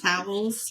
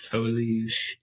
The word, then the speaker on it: Towles: I'm so sorry that it's not towels I'm so sorry that I pronounced it towels toes it's TOS I looked up pronunciation